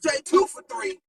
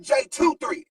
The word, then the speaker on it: JaeTwoThree: I mean right right j23 not J2 for three but j23 yeah j23 lot a